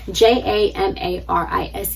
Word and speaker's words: Jamarise: My name is Jamaris, Jamarise. The E in my name is silent.